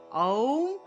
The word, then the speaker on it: ওম: আওম, আর আওম উচ্চারণ হবে, আ দিয়ে আরম্ভ করবেন, আ দিয়ে।